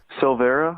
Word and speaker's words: Silveira: say your last name Silvera that's s io ve IRA Europe and Massachusetts that's